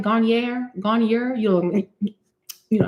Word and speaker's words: Garnier: Garier. Am I saying it right? Garnier.